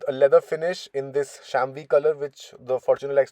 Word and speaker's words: chamois: Uh, this is the chamois color, as Toyota likes to call it, which is spelled as CHAMOIS, Camois in Desi Bhasha.